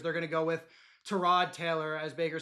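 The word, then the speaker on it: Tyrod Taylor: They're going to go with Terrod Taylor, as Baker said. that's how it's pronounced.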